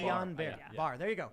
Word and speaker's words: Guillain-Barré: I will also say, however, to Charlie, Guillain-Barré syndrome, which I'm probably pronouncing wrong, it's a side I effect. always mispronounce it. Yeah, me too. Guillain-Barré. Guillain-Barré.